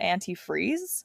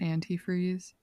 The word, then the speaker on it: antifreeze: she doesn't call it antifreeze she calls it anti-free like she doesn't pronounce the last sound of the word like she thought her whole life people were saying anti-free not antifreeze yeah and so she